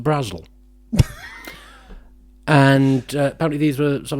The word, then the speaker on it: Brazil: were by an author an author called angela brazil spelt as in the country but was apparently pronounced brazil and apparently these were some of the earliest